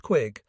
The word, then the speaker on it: Quigg: my immediate boss was Enant Colonel Clayton Quigg, pronounced Quigg.